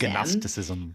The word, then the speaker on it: gnosticism: been to Seminary yet gnosticism is spelled g n o s t i c i s gnosticism gnosticism it's like Jiro like a heroo so gnosticism was a